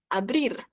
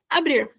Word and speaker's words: abrir: Então, abrir é o quê? Abrir. Abrir. Então, se escreve da mesma forma, se fala de outra forma. Abrir, tá? Tem esse R de sempre.